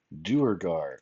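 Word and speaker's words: Durgar: Durugar.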